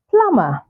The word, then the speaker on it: plumber: comb then we have plumber say plumber not Plum it's plumber plumber so the plumber has